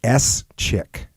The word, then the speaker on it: Schick: is at Jacob_Schick, which is spelled like S Chick. In case anyone Always say Schick like the razor, no relation.